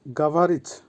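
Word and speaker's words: говорить: past টেন্সের ক্ষেত্রে এবং ভবিষ্যৎ টেন্সের ক্ষেত্রে ভার্ব গাভারিজ গাভারিজ এর অর্থ হচ্ছে কথা বলা বা স্পিক আবারো বলছি উচ্চারণ হবে গাভারিজ ভার্ব খাতেজ খাতেজ এটাও একটা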